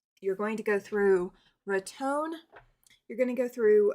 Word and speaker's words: Raton: You're going to go through Raton. You're going to go through uh Clayton. Clayton, New Mexico. And you're going to go through Raton. R A T O N. That's how it's pronounced is Raton.